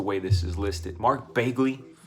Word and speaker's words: Bagley: Mark Bagley. Bagley, it's Bagley. I always say Bagley because I mispronounced it for so long.